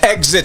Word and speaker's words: XIT: called she and it's off the album exit and it's spelt x-it which is my son's initials chavez ignacio thomas serious